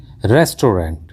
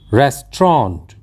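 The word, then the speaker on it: restaurant: बोला जाता है और हम इसका उच्चारण करते हैं रेस्टोरेंट जिप कि रेस्टोरेंट कहना बिल्कुल गलत है क्योंकि इस का सही उच्चारण होता है रेस्ट्रॉन् रेस्ट्रॉन्ट एक उदाहरण लेकर देखते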